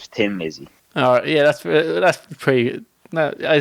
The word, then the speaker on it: Thin Lizzy: Tin Lizzy, but Phil Lynott decided to add in the H because no Irish person ever pronounces the TH, so it would always be Tin Lizzy instead of Thin Lizzy.